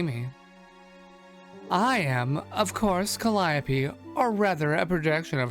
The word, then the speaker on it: Calliope: Here we go, Calliope. Her name was mentioned once already. Well, that's so much better. A proper welcome now that you can see me. I am, of course, Calliope, or rather a projection of her.